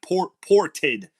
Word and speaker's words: ported: I might have mispronounced it. Not potted. Ported. P-O-R-T.